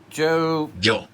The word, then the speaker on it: yo: hooray leche Joe leche now yo Joe is because y is like a J in English pronounced like a J in Spanish so it's yo Joe